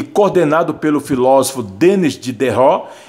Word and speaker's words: Diderot: ó, foi organizado e coordenado pelo filósofo Denis Diderot e o matemático D'Alembert, tá? Jean D'Alembert, é mais ou menos assim que se pronuncia o nome deles, tá? Aqui está o Denis Diderot, tá?